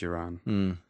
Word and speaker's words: Ghiran: many years and he he says youran a soft therefore I say yeah it's a soft G yeah and uh and